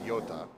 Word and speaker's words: Yota: I'm pronouncing this properly Yota balloon not Yoda Yota uhhuh and it's uh